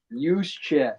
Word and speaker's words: Juszczyk: Use check. Juszczyk, yeah, great little stud.